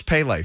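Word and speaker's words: Pelé: soccer is from pele i love that you called him pele too which is that's right right proper pronunciation i know i'm i'm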